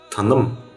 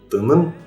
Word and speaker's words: таным: Таным, не тыным, а таным, тавак, тан.